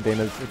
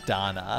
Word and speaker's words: Dana: it turns out there's a lot going on Dana's her hat hair what's going on with her